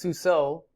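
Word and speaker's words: סוּסוֹ: in this case it's a h and it's pronounced suo the O is the word his and Seuss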